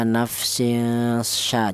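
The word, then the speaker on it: نَفْسٍ شَيْئًا: Cara bacanya nafsin sya. Jadi tanwin ini cara bacanya disamarkan ya. Nafsin sya seperti itu. Tidak boleh dibaca izhar.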